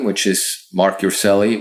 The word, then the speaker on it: Urselli: name which is mark yourself which is spelled m-a-r-c uh no k and then you are like robert s like sam e-l-l-i so it's mark on instagram on facebook